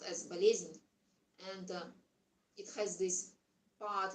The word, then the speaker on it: болезнь: In Russian, the word illness is pronounced as болезнь, and it has this part in this word called bol, pain.